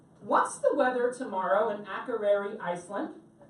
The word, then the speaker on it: Akureyri: Now, can anybody help me pronounce the name of the port we're going to tomorrow? Because I can't do it. Akureyri?